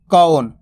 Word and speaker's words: कौन: अगर आप कौन पढ़ोगे ना तो ओ की मात्रा का उच्चारण हो जाएगा, जबकि ओ की मात्रा तो एक बार लगेगी और औ की मात्रा 2 बार लगेगी, तो कौन। इस तरीके से इसका उच्चारण किया जाता है।